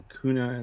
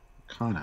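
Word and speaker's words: Okona: But yeah, so we're not screwed because Captain Okuna is there. Okana? Okana. I keep saying it wrong, too.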